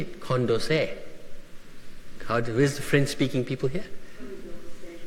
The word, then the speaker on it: Condorcet: So, Wilson's favorite philosopher was the Marquis de, how do you say it, Condorcet. Where's the French-speaking people here? Condorcet.